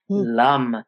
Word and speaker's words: Lam: So the first chakra, which is all about earth and grounding, the seed syllable is Lam. Lum.